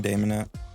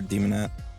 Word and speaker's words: Daemonette: whatever they're called um then there's the persuading demonet or demonet I say Damon just to keep it uh